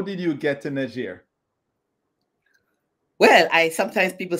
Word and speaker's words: Niger: Antoinette to Johnny ALU uh Jamaican living in Niger welcome Antoinette hopefully I got the name of the country pronounced like how they pronounce it there and